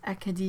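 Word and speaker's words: Acadie: the eastern coast of the eastern provinces it's a kadhi in French but they have a really really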